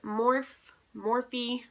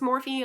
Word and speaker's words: Morphe: If it is pronounced Morphe, like, I feel like they should not, like, just no, like, change it. pronounce it Morph, please.